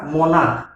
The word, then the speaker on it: monarch: किंतु जब आम लिखा मोनार्क MONARCH ये लास्ट सी अच्छी किंतु ये क उच्चारण आसू तेणु ये आम केवल एस बसईबा।